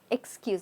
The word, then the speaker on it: excuse: looking at is Excuse excuse not excuse a that's very French it's Excuse excuse now again the S is sounding like a zed over here excuse so